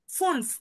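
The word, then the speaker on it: fünf: ফুনফ, ফুনফ, এফ আছে last, ঠিক আছে? ফুনফ। জি। যে উচ্চারণটা করেন তো আপু। ফুল। ফুনফ, লাস্টের এফটা উচ্চারণ করতে হবে আমাদের, ঠিক আছে? ফুনফ, ফুনফ।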